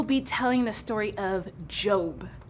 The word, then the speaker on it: Job: Today, we will be telling the story of Job. It's pronounced job. I'm pretty sure it's Job.